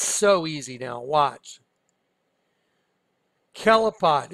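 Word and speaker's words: Kelipot: Kelapot. It's pronounced Kelapot, like K-E-L-I-P-O-T. It's Hebrew.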